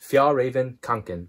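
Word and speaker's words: Fjällräven Kånken: I think it's pronounced Fjallraven Kanken.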